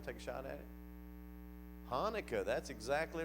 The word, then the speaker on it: Hanukkah: word that they pronounced Hanukkah Hanukkah it's got a guttural sound at the beginning we pronounce it in by one take a shot at it Chanukah that's exactly right it